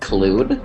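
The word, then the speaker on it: Klud: just before he vanishes um it's pronounced clude what's the atmology of that nothing I just assume it's clude not CL so everyone gathers back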